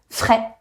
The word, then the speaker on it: frais: Frais. There is an S at the end and it does not make fraise because that would be a strawberry.